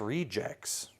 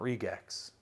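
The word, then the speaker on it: Re-Gex: was like no no the g is pronounced like a j i've said no no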